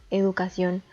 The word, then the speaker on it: educación: La última palabra, educación, está dividida en 4 sílabas, la sílaba tónica recae en la última sílaba y al igual que